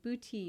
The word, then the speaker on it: Bhuti: And then in 2017, I also went through Bhuti yoga training, and it's spelled Buti.